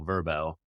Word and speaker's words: VRBO: counter argue that VRBO as an acronym stood for vacation rental by owner, but as they're going by now, Verbo, that's their brand.